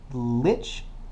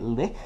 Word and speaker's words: lich: Uh, by the way, I looked up the pronunciation. Um, lich is apparently the accepted pronunciation. Although I was semi correct in pronouncing it lick because um, it is from German word.